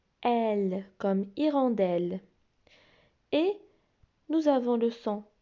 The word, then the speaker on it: hirondelle: Hirondelle. Hirondelle. E-L-L-E se prononce L, donc hirondelle.